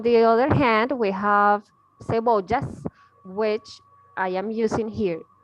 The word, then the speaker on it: cebolla: It's pronounced cebolla, cebolla, Yes.